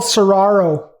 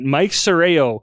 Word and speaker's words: Serrao: His name is Michael Serraro. It is it's Serraro Occasion where Dustin gets his name right. Mike Serrao is our very first episode sponsor, and he's a contractor, construction guy, builds custom homes.